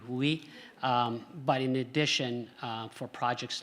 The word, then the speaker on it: WUI: and being in the, if I pronounce it correctly, WUHU. WUI, thank you, WUI.